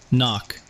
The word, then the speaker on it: NOC: Knock, pronounced knock.